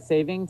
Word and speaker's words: saving: kind of fun um it's actually daylight saving time there's no s saing yesing well there